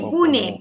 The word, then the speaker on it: Pune: Te iba a preguntar, ¿se escribe pune o puna? Sí, pune. P U N E.